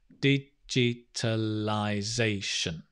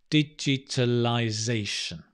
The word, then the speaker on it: digitalization: tell lie they shun digitalization and get the stress right sation digitalization digitalization digitalization has made massive improvements